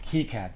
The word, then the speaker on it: KiCad: And I think you pronounce it KiCad because I think I looked that up.